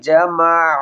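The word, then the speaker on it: جَمَعَ: আল্লাযী জামা আইন হলকের মধ্যখান থেকে উচ্চারণ করব।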